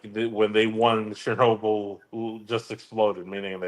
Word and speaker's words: Chernobyl: Seo, how the do you pronounce this? Cherry Noel just exploded. What the is that? Chernobyl.